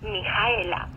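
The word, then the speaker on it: Mihaela: dos chicas, Tatiana y Mijaela. Mijaela es la versión rumana del nombre Micaela. Mijaela se escribe con H, hash, después de la letra I.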